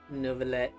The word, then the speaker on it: Neuvillette: It's weird how they pronounce Neverlet. It's like there's no U in it. There's just Neverlet.